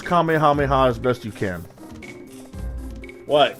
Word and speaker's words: Kamehameha: it was easy right yeah right five syllables these guys are outright mispronouncing it in ways I never thought possible like it's one thing if you say the kamehamejo wave they they said it that way in a couple dubs whatever but this is